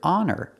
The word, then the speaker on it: honor: like an honest person the word honor has a silent h so we say an